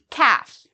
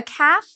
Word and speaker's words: calf: examples of common words calf okay so a calf is a baby cow for this word calf you do not need to pronounce the L it is silent all right so there